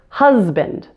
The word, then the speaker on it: husband: industry but here's a common exception the word husband that s is still pronounced as AZ now I'd like to mention